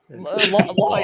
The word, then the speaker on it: lawyer: Lawyer. Yeah, that's what you say, lawyer. Lawyer. Is that not how you say it? Lawyer. It's not lawyer because lawyer would be LOY. It's LAW.